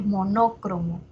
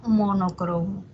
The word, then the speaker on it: monocromo: Ahora, monocromo no tiene doble acentuación, o sea, no está bien decir monócromo, no está bien, sino monocromo.